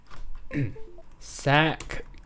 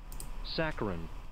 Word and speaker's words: saccharine: Saccharine. Excessively sweet or sentimental. Alright, cool. How do you pronounce it? It's also of, relating to, or resembling that of sugar? Saccharin.